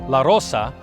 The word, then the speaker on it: Larose: that's right originally pronounced LaRosa mostly Rose descendants probably don't realize that their ancestors are Portuguese as early settlers adopted the French pronunciation which means the rose some of these early